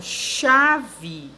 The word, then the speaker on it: chave: Porque, como você sabe, a palavra chave é escrita com C-H-A-V-E. E quando você pronuncia o som do H não é pronunciado, né?